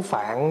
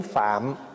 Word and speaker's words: Phạm: gọn lại là tiếng Phạn đó mình nói tiếng Phạn đó chứ nếu mà nó phát âm cho đúng Phải nói là tiếng phạm tại tiếng phạm là